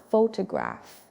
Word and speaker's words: photograph: Say it with me, photograph. The stress is on the first part, photograph, not photograph, not photograph, photograph.